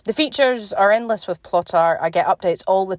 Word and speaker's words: Plottr: And for those of you who might have missed episode 57 with Troy Lambert, education lead of Plotter, and that's spelled Plottr, on Plan Your Books